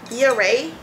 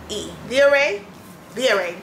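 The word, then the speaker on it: Via Rae: I picked up the Via Ray. I may not be pronouncing it right. How would you pronounce this? V-I-A-R-A-E. Via Ray.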